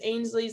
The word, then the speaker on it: Ainslie: So we'll kind of see what happens there, but I am always, able to be reached on Twitter, which is Ainslie's, that's spelled AINSLIE.